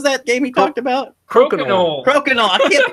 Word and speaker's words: Crokinole: Norm was so much fun talking about Cronkle? What was that game he talked about? Crokinole. I can't pronounce it.